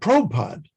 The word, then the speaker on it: Prabhupada: i i always noticed doula chandra's pronunciation of the word prabhupada he didn't say prabhupada he said probe pod and the only other